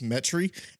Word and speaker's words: Metairie: I know you're joking, but all I'm thinking about is I saw people in the comments being like, "It's Metri," and I put It's that not I put that Metri, under the first of same all.